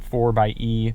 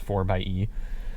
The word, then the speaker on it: 4xe: this jeep it's the 4 by e technically it's 4xe but it's pronounced 4 by e that one can do